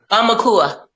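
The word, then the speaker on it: aumakua: Amaka? How do you pronounce it? Amakaya? Amakua.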